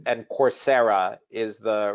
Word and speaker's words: Coursera: trades in the united states uh it's and coursera is the right pronunciation yeah so you spell it c-o-u-r-s-e-r-a exactly